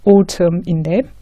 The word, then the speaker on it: autumn: autumn 뭐 이런 식으로 autumn인데 그리고 영국에서 특히 이 AU 발음은 이게 어보다는 상당히 오에 가깝습니다. 오에 가깝게 발음합니다. 그래서 autumn 이런 식으로 오토 자동차 이런 식으로 발음합니다. 그 다음에 garbage, trash 다 쓰레기라는 뜻이죠.